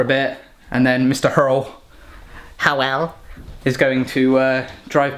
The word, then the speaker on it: Hywel: Hywel, Hywel, is going to drive back home.